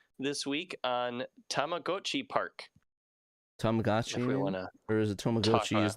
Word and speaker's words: Tamagotchi: Yeah, if you were to like pronounce it the way it's written in Japanese, it's Tamagotchi.